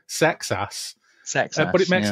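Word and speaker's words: Seksass: I mean, it's spelled S-E-K-S-A-S-S. Old name. Sex Ass.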